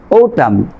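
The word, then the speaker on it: autumn: তারপর খেয়াল করেন আপনার সাইলেন্ট লেটার এন এম এর পরে এন থাকলে, এম এর পরে এন থাকলে আপনার কি করবেন, আপনি এই এন লেটারটি সাইলেন্ট রাখবেন। কিভাবে পড়বেন, ড্যাম, ওটাম, খলাম, এখানে এম এর পরে এন আছে।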